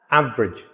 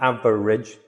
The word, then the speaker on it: average: Average. Average. Not average. Average. Two syllables. Average.